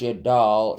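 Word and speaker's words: 여덟: Yadil, or pronounced Yadal, is 8.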